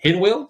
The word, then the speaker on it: Hinwil: their headquarter is in hinwill switzerland that's how it's pronounced uh powered by the